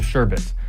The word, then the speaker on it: sherbet: There is no second r.